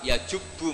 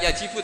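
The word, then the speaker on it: يَجُبُّ: Terus Nabi ngendikan al-Islamu yajubbu ma qablah. Itu bacanya bukan yajibu tapi apa? Yajubbu ayaktau.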